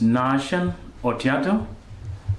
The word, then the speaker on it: Nashon Otiato: tell the audience your name my name is nashan oato Pastor from Kenya living in migori County migori